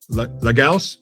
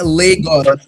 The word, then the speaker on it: Lagos: Legals. No, God damn it. Now I'm in my head about it. Legos. It's Legos.